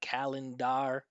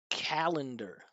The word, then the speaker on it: calendar: I've seen a lot of different pronunciations of this one like leor. Don't even worry about these vowels. It's not kalindar. It's not dalar or nebore. It's author. Liquor. Liquor. Listen to this one. Calendar.